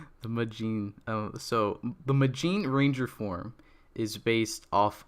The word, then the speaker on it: Magine: my favorite um kikanoid so this is zenkai majin i'm a little confused on the spelling because